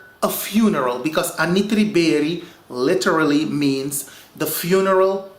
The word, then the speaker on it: Anitri: Now, the Anitri people, that is how you say it in my native language, Anitri.